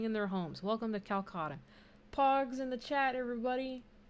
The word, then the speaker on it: Calcota: when people think of it's pronounced calcutta right okay today when